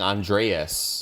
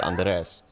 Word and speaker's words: Andres: They like it'd be white people saying Andreas. Yeah. Or Andreas, like San Andreas, and it's like there's no A there. It's just Andres.